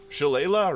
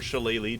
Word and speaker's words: shillelagh: Shillelagh or Shillelagh, two pronunciations.